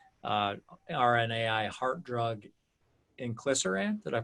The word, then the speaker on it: inclisiran: the medicine company, and its RNAi heart drug, inclisiran. Did I pronounce that correctly?